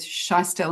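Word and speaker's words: Schiestl: And speaking of vulnerability, in 2024, you did a paper with Scheistel and Wolfson. Is that the correct pronunciation?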